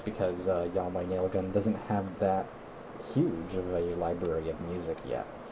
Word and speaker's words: YHWH Nail Gun: This, and the one I forgot about, I put it in the description, was Yahweh Nail Gun. Yahweh Nail Gun, it's spelled YHWH Nail Gun.